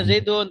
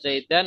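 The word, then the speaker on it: زيدٌ: Jadi bacanya Zaidun, tidak Zaidan atau Zaidin ya.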